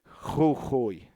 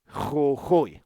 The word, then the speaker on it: Jujuy: So it should be Jujuy. Jujuy.